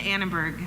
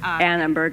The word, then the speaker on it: Annenberg: Did I say that right? That's not quite right either, did I? That's all right. Yeah, say it right. It's the Annenberg. Annenberg.